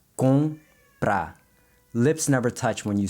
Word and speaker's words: comprar: But in Portuguese, this sound is also nasalized, and the best way to practice it is to make sure your lips don't touch when you say it. So it's comprar.